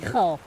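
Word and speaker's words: Reichl: Reichel.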